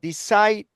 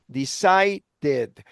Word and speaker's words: decided: Decided. Decided. Remember that whenever you have a t or d sound by the end of a regular verb, you have to pronounce it like ed. So decided decided.